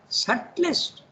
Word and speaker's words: subtlest: For all, from subtlest substance. By the way, you don't pronounce the B, huh?